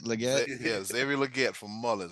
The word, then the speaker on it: Legette: Legette, is that how you say it? Legette?